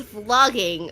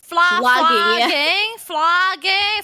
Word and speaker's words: vlogging: It's softer, like vlogging.